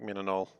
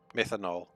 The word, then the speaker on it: methanol: um is there an easier way to make menonol or i'm saying it wrong how do you actually say it methanol uh there is i could use carbon dioxide